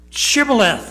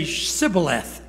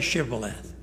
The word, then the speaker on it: shibboleth: that to say this shibboleth is a real issue among believers it may not be the word chivalreth but there are people that can't say it they say sybileth and it cost 142